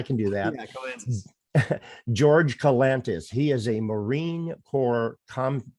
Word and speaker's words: George Kalantzis: George Kalantzis.